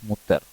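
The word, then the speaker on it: Mutter: அதனால் முதல் வார்த்தையாக அம்மா என்ற வார்த்தையை நாம் படிப்போம் மூத்தார் என்று சொல்வார்கள் ஜெர்மனின் அம்மா என்றால் முத்தர் நீங்கள் உச்சரிப்பை மிகவும் உன்னிப்பாக கவனித்தாலும் சரி கவனிக்கவில்லை என்றாலும் சரி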